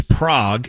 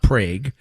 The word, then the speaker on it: Prague: It's Prague in the Czech Republic, not Prague.